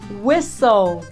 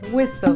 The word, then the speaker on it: whistle: Whistle. Whistle significa assobiar, sim? Não diga whistle, diga whistle.